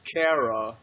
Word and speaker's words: Chara: Well, they're called Kara. Yeah, but that's like, usually spelled with a K.